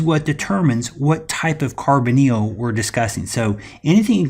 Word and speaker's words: carbonyl: Now, this is pronounced carbonyl.